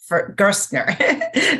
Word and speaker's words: Gerstner: with our guest gersner sorry I keep thinking it rhymes with first and uh yeah